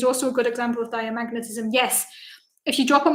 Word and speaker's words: diamagnetism: And as you can tell, I have no idea how to pronounce diamagnetism because I always drop the A and just say dimagnetism, and that's not actually correct.